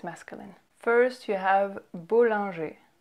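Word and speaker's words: Bollinger: you have bull Andre bull Andre bull Andrei then you have theta a theta a theta G so you see how we don't pronounce the ER at the end of those two names it's just a at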